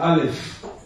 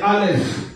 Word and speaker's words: Aleph: Le Aleph, lorsque ça se trouve dans une phrase, c'est muet.